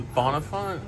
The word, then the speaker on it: Bonnefont: This is the What's How do you pronounce the name of the restaurant? This is the Bonafont.